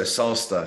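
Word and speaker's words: Sasta: you know yeah so salsa so it's spelled s-a-s-t-a think of pasta but with an S there you go yeah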